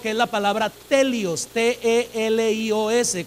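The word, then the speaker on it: τέλειος: El término griego para madurez o el que alcanzó madurez es un término griego que es la palabra telios, T-E-L-I-O-S con acento en la E, telios.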